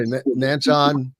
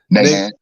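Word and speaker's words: Nachand: if Sharon visited and I always pronounce it incorrectly. I always say Nanchon Fieldhouse. Nahan. Yeah. Nahan Fieldhouse. This place, go back and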